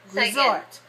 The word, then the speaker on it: resort: two two resort right where is the stress on the first or the second resort so we call this one a two dash two word two dash two for the word resort now this is useful